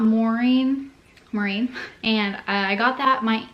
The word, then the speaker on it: Maureen: My middle name's Maureen. It's spelled M-A-U-R-E-E-N. Not Maureen, Maureen.